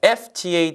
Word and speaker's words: FTA: 뒤에 철자가 아니라 철저하게 발음입니다. 자, 여러분이 자유무역협정 FTA 있죠? 그걸 풀었으면 Free Trade Agreement이지만 줄이 뭐가 돼요? FTA 되죠?